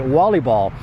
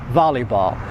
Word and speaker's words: volleyball: the wall no no very often you'll hear Polish people say Wally ball it should be volleyball volleyball Harvey never volleyball here